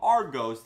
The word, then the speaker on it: Argos: So yes, in the UK, if you got the newspaper from Argos, that's how you pronounce it, you were going to see an advertisement for the MAVIC 2, a drone that's not even out yet.